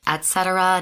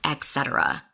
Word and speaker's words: et cetera: It's pronounced et cetera, not etc.